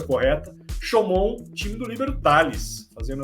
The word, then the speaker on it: Chaumont: Aprendi com esse senhor aqui a pronúncia correta. Chaumont, time do Líbero Tales, fazendo a sua estreia internacional na Liga Francesa.